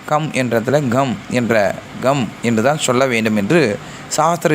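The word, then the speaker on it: गं: சாஸ்திர ரீதியா சொல்லப்படுது இ நிறைய பேர் கம் கம் என்று வெல்கம் என்ற போல சொல்லுவாங்க ஆனா come come G யு M come என்ற உச்சரிப்பு வரவேண்டும் அழுத்தம் கொடுத்து உச்சரிக்க வேண்டும் இதற்கு நியாசங்கள் பூஜை விதிகள்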